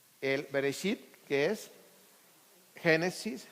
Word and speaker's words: Bereshit: Se los puse ahí en hebreo, cómo se pronuncia el Bereshit, que es Génesis, Shemot.